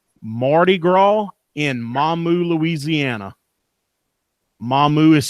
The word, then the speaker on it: Mamou: YouTube and search Mardi Gras in Mamou Louisiana mahmu is spelled ma MOU that's the best thing I